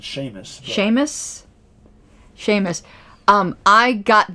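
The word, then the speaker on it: Seamus: which name shamus uh i would pronounce it sheamus sheamus sheamus um i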